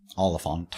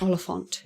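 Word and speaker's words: Olyphant: Oliphant. Oliphant. You have to say it like that.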